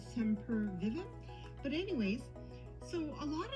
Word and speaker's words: Sempervivum: sometimes they're referred as semper vivim i think that's how you pronounce it sam per vivim sympervium or sem per vivem but anyways so a